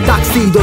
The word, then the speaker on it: tuxedo: di sopra il tuxedo la pronuncia corretta è taxido taxi dove vuoi che